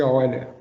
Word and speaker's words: Euler: Existe uma regra na língua portuguesa que diz que nome de pessoas estrangeiros a gente tem que pronunciar na língua pátria da pessoa. Então, Euler alemão, né, me informaram que a pronúncia certa seria Euler.